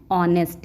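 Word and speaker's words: honest: एन लगता है तो यहां पे एच साइलेंट रहता है इसको क्या पढ़ते हैं ऑनेस्ट इसलिए यहां पे एन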